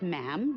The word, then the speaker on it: ma'am: and after that is just ma'am rhymes with jim and it's always a